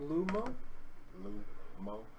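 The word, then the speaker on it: Lomo: So in Oromo, it's Lumo. Lumo. So just like it's spelled, yeah, L-O, and then M-O, Lumo.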